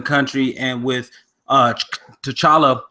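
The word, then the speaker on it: T'Challa: and with us to chala actually he said the T is silent anyway with him being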